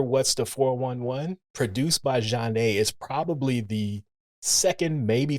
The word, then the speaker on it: Zhané: Well, let's talk about that pioneering album then, pronounced Zhané, released in 1994.